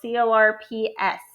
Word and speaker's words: Corps: River we're going to talk about a Corps it's spelled cor PS but it's pronounced Corps and it's a team